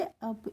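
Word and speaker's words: up: को पढ़ेंगे मी और यूपी को पढ़ेंगे अप इसको उप नहीं पढ़ते हैं अब पढ़ते हैं और लेट मी अप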